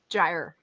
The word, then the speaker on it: gyre: Gyre. Gyre. Like a gyroscope.